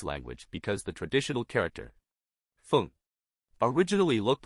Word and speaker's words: 凤: we'll teach you the Chinese character for Phoenix pronunciation this is a fun character in the Chinese language because the traditional character Fung originally looked like a phoenix that gradually morphed